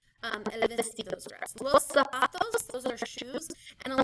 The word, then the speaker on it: zapatos: to try to put like the stress on the O or on the second, or on the first day, los zapatos, or los zapatos. But the stress should be on the second to last syllable, los zapatos. Okay?